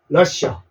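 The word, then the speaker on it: Russia: 그래서 러쉬라는 발음이 나와요 러시 됐죠 그래서 러시아의 영어 발음은 러시 러시아라고 외워 두십시오 러시아 아 우리 러시아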